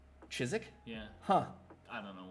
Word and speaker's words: Chiswick: the place for the is it not chiswick damn it i thought i had that silent w silent w yeah chizik yeah huh i don't